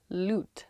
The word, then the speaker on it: loot: Loot, like a lute. L-U-T-E.